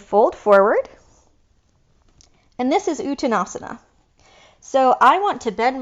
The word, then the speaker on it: Uttanasana: are going to do a bigger fold called uttanasana please say that uttanasana now say it like you're impressed ooh tanasana